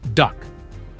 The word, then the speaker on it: DUKW: The Americans called them DUKWs, pronounced duck.